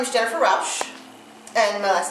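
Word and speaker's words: Rauch: and spell it um my name is Jennifer Rous and my last name is spelled r a u c h and I'm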